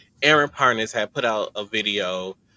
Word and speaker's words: Parnes: air, uh, Aaron Parnes, I've been saying his name wrong. previous video I said harnesses Aaron Parnes had put out a